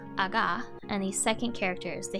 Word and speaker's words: 上: word means to raise the first kanji is pronounced ah and the second and third characters of the